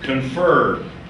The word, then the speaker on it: confer: that were working 100 confer on stress on the second syllable please mark that confer however it is conference